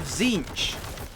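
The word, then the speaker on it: Tzeentch: and the Demons of zinch at least I think that's how it's pronounced I'm pretty sure that's how it's pronounced the t is silent I think anyway you can also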